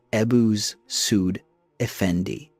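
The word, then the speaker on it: Ebussuud Efendi: Working with the legal establishment headed by his chief legal scholar Ebisudendi, a name pronounced roughly as Ebuz Sudphendi.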